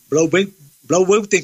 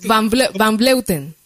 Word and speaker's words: van Vleuten: Me encanta, como dice Marisol, el nombre de la Blauwbeuten.